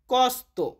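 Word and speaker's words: costa: খরচ এটাকে আমরা ইতালিতে বলি কস্ত। কস্ত মানে খরচ। তবে আবার কোন একটা জিনিসের দাম যখন জিজ্ঞেস করবেন এটার দাম কত বা এটার খরচ কত? তখন বলবেন কয়ন্ত কস্তা। ওখানে কস্ত না কস্তা উচ্চারণ হবে।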